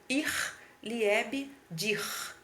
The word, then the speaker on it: ich liebe dich: ich liebe dich né só que se pronuncia ir liebe dir pronuncia assim mas é ch no final né então essa pronúncia